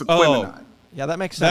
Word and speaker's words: Aquemini: It is Aquemini. Aquemini. That's my bad with the syllable in the wrong syllable.